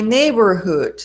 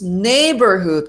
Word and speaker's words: neighborhood: Dice: My neighborhood, decimos neighborhood como Robin Hood.